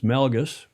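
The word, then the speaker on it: Melges: It's Melgus. And we we sail on a Melgus 32 here in the lake.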